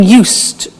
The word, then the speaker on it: used: Listen to the pronunciation. I said used with a T sound. Used, not used or used. Used. That's very important to distinguish it from the other verb, use.